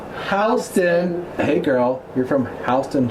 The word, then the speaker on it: Houston: said oh well like Houston did but it's pronounced Houston hey girl you're from Houston Georgia and then